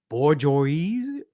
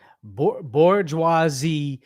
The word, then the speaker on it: bourgeoisie: class, the proletariat, and the owning class, the bourgeoisie. Good God, that's a now we gotta ask Google.